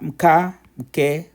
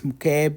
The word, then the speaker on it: mke: And then mka, mke, mki, ko, mku. An example of that is this mke by itself means a wife. So mke, that's mke, mke or mke.